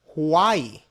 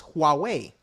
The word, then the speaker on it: Huawei: up sometimes I pronounced it wrong I said Hawaii but the pronounce the way you uh uh correctly pronounce it is Huawei right and this is basically a company that